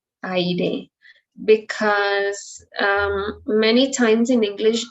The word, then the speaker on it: aire: just one pronunciation, but in Spanish, remember that that doesn't happen. We pronounce both vowels.